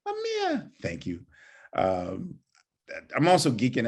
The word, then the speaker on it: Ahmir: I love the way you say my name, Ahmir.